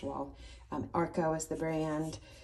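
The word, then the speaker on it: Wahl: a whale and um or i think it's pronounced wall um arko is the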